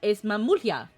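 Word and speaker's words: Mamool Ja: Es Mamulja. Because at the same time, the J, it's, it would be pronounced like an H.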